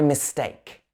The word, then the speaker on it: mistake: All right, another way you can say it is you can say my mistake. Mistake. So this is a light syllable at the beginning. Mistake. We emphasize the take.